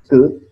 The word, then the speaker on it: could: Can, must, could. Could no se pronuncia la L, ¿ok?